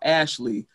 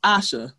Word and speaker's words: Asha: introduce myself to people i've been called ashley asher oscar i have to say my name is asha like tasha but without the t but that makes people